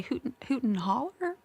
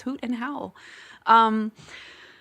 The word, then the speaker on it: Hoot and Howl: And then they'll say Hoot and Holler, Hoot and Hollow. No, it's Hoot and Howl.